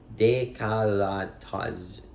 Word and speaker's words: décolletage: Am I saying it right? Décolletage. Taj. I think the ZH like a taj.